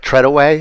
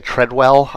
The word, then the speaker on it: Treadaway: I apparently have been mispronouncing one of the horsemen's names, Eric Treadaway. I was saying Treadwell.